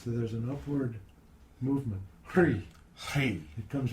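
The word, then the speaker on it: Hrih: Now in Lama Govinda's teaching, the seed syllable for Amitabha is Hri, H-R-I-H. And you notice when you say Hri, that sound pulls energy up your spine.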